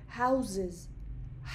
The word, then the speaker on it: houses: سؤال جواب ازتون میکنم تلفظ این کلمه در حالت سینگولر حواسمون باشه که هاوس هستش هستش هستش اما در حالت پلورال هازز زز الان تیم گزارشگر با